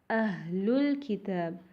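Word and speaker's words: أهل الكتاب: But when we join these two words, we drop the Hamza in the word Al-Kitab. So it will become Ahlul Kitab. The alif in the word Al-Kitab is not pronounced.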